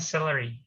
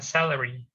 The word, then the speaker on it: celery: Kalau ini bacanya celery, ya. Bukan salary.